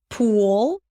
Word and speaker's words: pull: foot pull pull.